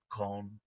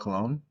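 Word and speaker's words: Köln: Started centered more towards visiting Cologne, which is Koln, but I get Koln is a little hard to pronounce if you haven't pronounced it all the time. Um, Cologne? Cologne is like what you can say if you don't want to say Koln, but Koln's a Oh, little okay.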